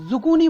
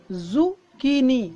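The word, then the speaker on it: zucchini: तो लंबा कद्दू जो होता है दोस्तों उसको ये जुकूनी बोलते हैं। इसकी जो प्रोनाउंसिएशन है दोस्तों ये मैंने लिख दी है ब्रैकेट में ताकि कोई कन्फ्यूज़न ना हो, जुकीनी, जुकीनी।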